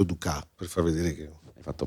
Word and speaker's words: Dukas: Si scrive Dukas, ma ho detto Dukas per far vedere che...